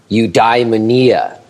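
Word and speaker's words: eudaimonia: um NE this word which I think I can also pronounce correctly cuz I practiced it which is youy Mania yes that is uh from what I hear the correct way to do it well I'm taking your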